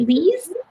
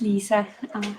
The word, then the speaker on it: Lisa: wonderful thank you uh is it lee's am i pronounced that horribly wrong i apologize uh no problem it's lisa it's not an easy name to pronounce um so my name